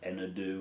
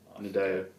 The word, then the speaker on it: Nadeo: It's like Enadu or something." Nadeo. Nadeo. It sounds like a Nigerian footballer.